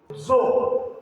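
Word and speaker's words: dzo: Zoo. The correct pronunciation is zoo.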